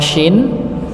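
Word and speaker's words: شين: Sin Nggih sa si tapi kalau syin Nggih lidah juga begitu ngih tapi bagian te Tengah Jadi bukan bukan ujungnya ngih bukan ujungnya tapi Tengah alam Nas alam nas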